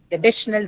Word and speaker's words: additional: They're going to say additional regularities, right? This is how they're going to say. So it simply means that the second syllable D carries more weight, stress weight on it.